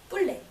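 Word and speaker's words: poulet: 소고기는 세 번째로 닭고기는 뿔레.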